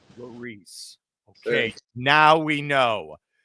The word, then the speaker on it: Lherisse: How do we pronounce the last name, buddy? It's Lherisse. Lherisse.